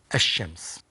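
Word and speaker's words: الشمس: to read the word, this L is not pronounced. This lam is not pronounced. Like, for example, Shams, when you put alif lam before it, it becomes ash-Shams.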